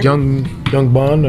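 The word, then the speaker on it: Young Ban: So my son is GM at this restaurant called Young Ben. I hope I'm saying it right. Young Ben. And Young Ben? Young Bond or Young Ben, B-A-N, Young Bond.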